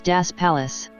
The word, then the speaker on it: Dos Palos: gave it the name dos palos colony but pronounced it with their alsatian german accent as das palace this pronunciation remained for